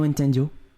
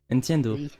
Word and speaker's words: entiendo: Nintendo. En plus il prononce mal. Je sais, je parle pas espagnol. C'est noendo. Entiendo.